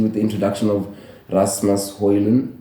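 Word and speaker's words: Højlund: the introduction of Rasmus hoyland that's how you pronounce his name or that's how he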